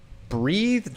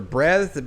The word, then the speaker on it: Breathed: His name was Berkeley Breathed or Breathed, but that's how it's spelled, like breathed, right? Like you breathed on somebody, right?